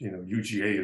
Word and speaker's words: UGA: I was joking with someone from the consortium that, when you pronounce it in English, UGA is Uga.